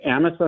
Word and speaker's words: Amasa: north from us it's Amisa Michigan how do you spell that a msaa amasa Amisa just like it sounds is it might be